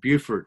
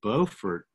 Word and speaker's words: Beaufort: the small town of beaufort south carolina that's as opposed to beaufort north carolina both sound spelled the same but they are totally different places um that's the difference between a northern accent and the southern accent beaufort is a great